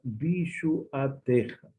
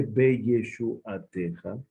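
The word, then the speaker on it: בישועתך: Bishu ateja. No se dice be yeshu ateja, Dice, Bishu Ateja se anula el Sheva.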